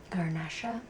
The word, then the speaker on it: Garnacha: Garnacha.